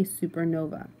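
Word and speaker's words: supernovae: year astronomers see a supernova exploding in other galaxies astronomers can often observe such supernova first months before they face from from view most Supernova that's the plural of supernova and pronounced super no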